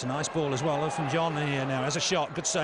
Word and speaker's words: Olofinjana: Olofinjana, I'm told. Correct pronunciation.